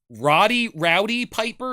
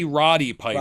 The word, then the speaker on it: Roddy Piper: And so this is a movie where Rowdy Piper, is that how you say his name? Yeah, or is it Roddy Piper?